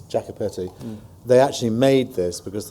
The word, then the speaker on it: Jacopetti: piece of Cinema um should point out the prospering G um it's Jacka petti they actually made this